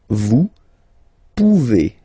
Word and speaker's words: vous pouvez: Then vous pouvez, okay? Classic ending as well for the vous form. A Z like that, okay? Remember you pronounce it E, okay?